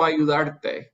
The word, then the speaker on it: ayudar: The reason we didn't add an accent here is because the stress in ayudar is on the AR.